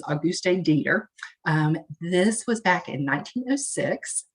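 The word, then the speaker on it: Auguste Deter: Alois Alzheimer's and his patient, and I'm not going to say her name right probably, but it's the way I hear it pronounced is Auguste Dieter.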